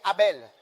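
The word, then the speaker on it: Harbel: Quel oui San Kelli et un autre endroit appelé Abel H A R B E L et une autre ville appelée Mandier l'homme aux anglais.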